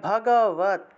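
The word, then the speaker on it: ভগবদ্: আসে আরেকটা গ আসে এই হসন্ত যুক্ত দ টাকে আবার ত তের মত উচ্চারণ করতে হবে তাহলে উচ্চারণটা হবে ভগ কি হবে ভগবত হ্যাঁ ভগবত ভগবত ভগবত তাহলে শ্রীমত ভগবত তারপরে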